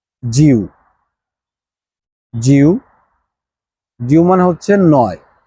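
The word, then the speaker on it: 九: মানে হচ্ছে আট জিউ জিউ জিউ মানে হচ্ছে নয় নাইন আরেকবার শুনেন জিউ জে আই ইউ জিউ জি মানে হচ্ছে নাইন আর এরপরে নাম্বার টেন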